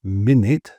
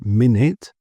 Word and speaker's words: minute: noun form we say minute. So the u is pronounced like an i and the e is ignored. So minute and the stress is on the first minute. And as an adjective it's minute.